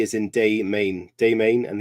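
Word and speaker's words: Des Moines: it's D is in day main day Main and the S is silent so there's my geography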